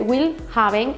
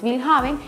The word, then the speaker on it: Willhaben: Buscan las páginas como InfoJob, LinkedIn, Willhaben, se escribe Willhaben en español, pero en alemán es Willhaben, en Jobs, en Bing,